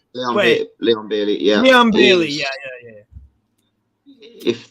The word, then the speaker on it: Leon Bailey: You know, you've got Barley. Sorry if I'm pronouncing his name wrong. Leon Bailey.